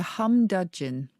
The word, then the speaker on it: humdudgeon: It's called a humdudgeon. Humdudgeon. Humdudgeon. And dudgeon is spelt... Dudgeon. A humdudgeon, all one word. As in high dudgeon.